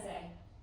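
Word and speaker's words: Zeh: Zay. Zay? Yes, Z-E-H.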